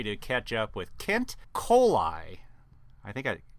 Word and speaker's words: Kohli: I pronounce it Kohli, but everybody else pronounces it Kohli. So just think of E. coli.